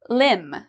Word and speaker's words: limb: at for MB pronunciation, limb. So your limbs are your arms and your legs. Okay, so arms and legs are the same thing as your limbs. Now, do we pronounce the B here?